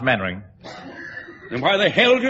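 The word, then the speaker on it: Mainwaring: square you must be main-wearing oh how to do colonel actually it's pronounced mannering then why the hell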